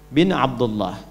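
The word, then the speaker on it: بن: Misal ini ada Muhammad sallallahu alaihi wasallam ya bin Abdullah. Gini. Karena sudah disebutkan nama anak di depan, maka ini hamzahnya yang ini hilang gini jelas dah. Ibnu Abdullah cara bacanya begini.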